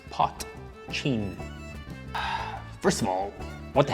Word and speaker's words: potcheen: things first the pronunciation it is known as pot chain see the way it's spelled you pronounce that p o t c h e e n pot chin first of all what the hell is it